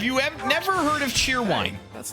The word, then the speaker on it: Cheerwine: spelling then c-h-e-r-c-h-e-e-r-w-i-n-e it is spelled as it sounds Cheerwine and it is actually